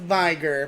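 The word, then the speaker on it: Veigar: 26-0 with vigor and i know it's pronounced viger but you know what you i pronounce it vegard i'm sorry i don't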